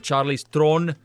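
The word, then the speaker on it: Charlize Theron: uh Sarah Connor in Terminator ayon flux with Charlie's Throne because that's how you pronounce her name you ignorant peasants and that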